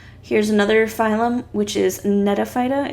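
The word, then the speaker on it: Gnetophyta: another phylum which is nete phyta it's a silent g and these look crazy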